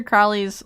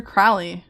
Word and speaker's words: Crowley: So, I know a whole lot about Lom as I know a whole lot about Alistister Crowley or Crowley as you're supposed to pronounce it, but Crowley.